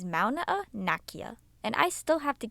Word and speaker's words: Mauna Kea: Well, Abby, the correct Hawaiian pronunciation is Mauna, and I still have to get to Dole.